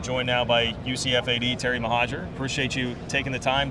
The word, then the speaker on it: Mohajir: and I am joined Now by ucfad Terry mahaja appreciate you taking the time to not only